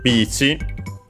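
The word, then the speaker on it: ビーチ: This course, on the top left, we can see it's called bici. So simply beach like in English. Should be accented, yes, like in English on the first syllable.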